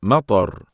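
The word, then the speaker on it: مطر: It's matar. Matar. Yes, matar. Can you spell it, Adam?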